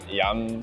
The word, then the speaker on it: yam: This dish is first inspired by yam salmon, which is spelled like yum salmon.